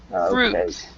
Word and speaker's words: fruit: Jonathan is suit so all the the words like uh fruit suit they have the UI but we do not pronounce the U the I so so it's suit fruit suit fruit yeah exactly all right so